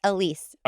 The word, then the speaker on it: Elwes: think it's Elise. Harry I looked it up, Elise.